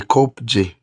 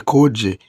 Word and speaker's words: Kopje: So me, I pronounce it as the Kopje, okay, or the Koje, meaning the P is going to become silent.